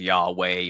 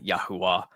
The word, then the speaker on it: Yahweh: Um um well, God's name is basically Yh. It looks like VH and it's the the the letters being Y vave or something like that. And then you can pronounce that if you want as Yahweh or Yah Yahwa. Um, and there's many ways